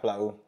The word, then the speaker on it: Aflao: So how was, you know, life growing up in, how do you pronounce that, Aflao? Yeah, Aflao.